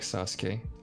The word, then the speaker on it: Sasuke: way same way like sasuke there is a there's a u between the s and the k but it's not pronounced gotcha uh the redhead